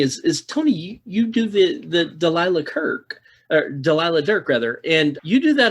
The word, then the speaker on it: Delilah Dirk: comfort in knowing that the series Delilah Dirk is routinely mispronounced as Delia Dirk by just a broad like everybody makes that miss.